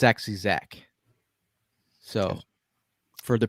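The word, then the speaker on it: Zech: you follow that joke uh rolling into zek zeke is it is it zach texting zach i've just been saying it's been spelled zek but it's actually zach so for the pronunciation police out there it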